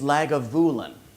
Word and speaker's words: Lagavulin: and his single malt scotch of choice is lagavulin in the first two chapters of the podcast I was not pronouncing it lagavulin what do I know I'm